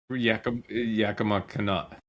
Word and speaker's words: Yakima Canutt: Yakima Canutt.